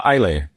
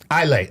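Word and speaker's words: Eisele: What What's It's a word with S's in it and you don't pronounce any S's.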